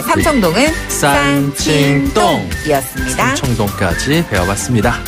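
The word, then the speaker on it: 三清洞: 삼청동은 중국어로 산칭동.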